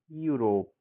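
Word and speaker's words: Europe: ई यू को यू पढ़ा जाता है।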